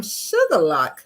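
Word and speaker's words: Shuqualak: it stated I'm Karen Johnson I am from sugarlock Mississippi um most people would think that's spelled sugar and lock but no it's not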